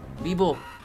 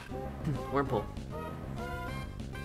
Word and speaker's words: Wurmple: Weeble! Wurmple. I said his name wrong.